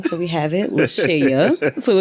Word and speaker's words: LaShaya: So we have it, LaShaya. So it's spelled. A lot of people call you LaShaya, don't they? They call me LaShaya, Latasha, Latoya, so many other things.